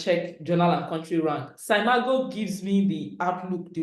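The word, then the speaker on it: SCImago: We used to call it Skimago. It's actually pronounced Saimago.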